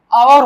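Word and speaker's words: hour: यहाँ पे देखिए आवर हो रहा है, ठीक है ना, एच हमारा साइलेंट है, इसका कोई शाब्दिक अर्थ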